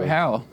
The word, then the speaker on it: Howell: you a Dax you spelled my name wrong thank you Howell it's with Three L's can I open it